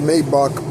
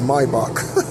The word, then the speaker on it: Maybach: it I don't know people pronounce Maybach like that but it's mybach so um 101 confirmation